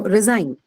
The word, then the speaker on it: resign: Okay, which is on the second syllable. Okay. Now resign.